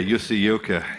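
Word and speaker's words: Jussi Jylkkä: Yeah, Jussi Ilkka. Yep. That's how you pronounce it.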